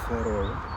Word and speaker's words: Værøy: It's called Værøy. Varta. Varta. It's always difficult, this pronunciation for Dutch people like us.